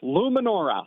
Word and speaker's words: Lumenaura: Was it Luminara? Is that right? Or Luminara. That's correct. Luminora. Luminora.